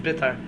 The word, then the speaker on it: Beitar: trying to And I heard that people say that really Beitar is supposed to be pronounced Bitar.